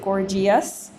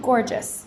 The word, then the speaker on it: gorgeous: we don't pronounce it gorgus we pronounce it gorgeous because the E is borrowed to change the g into a soft G outrageous same thing and